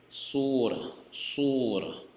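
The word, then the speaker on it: سورة: But many cases, if you stop at this word, you pronounce this as if this was the ha, like without the dots, the surah, right?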